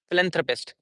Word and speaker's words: philanthropist: very very short time it has philanthropist that's how a soft th sound and stress would be on len philanthropist it would be like